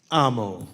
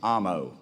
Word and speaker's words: Amo: Gabe Amo. How do you say your last name, Gabe? Amo. Amo.